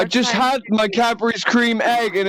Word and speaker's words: Cadbury's: He actually pronounces Cadbury's. it properly. We say Cadbury cream egg. He said Cadbury's because you actually add the S onto it, which is like actually proper English.